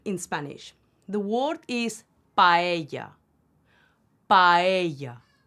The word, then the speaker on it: paella: Spanish the word is paella paella not paella or paella paella so we have an ah and a together we pronounce them both hence we say paella